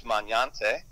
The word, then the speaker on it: Magnante: He just said three syllables. My grandmother, the correct way to say it is Magnante.